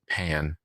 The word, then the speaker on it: Pin: And so they pronounce her last name as pan.